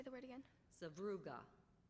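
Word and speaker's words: sevruga: very small Ro seuga are there any alternate pronunciations no there are not language of origin Russian could you say the word again sauga sauga s v r u g a sauga that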